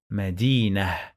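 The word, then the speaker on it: مدينة: end medina bait okay we don't pronounce the marbuuta we pronounce it like ah when we pause on the last letter look i say medina medina medina where the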